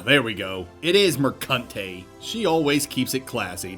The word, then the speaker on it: Mercante: It is Mercante.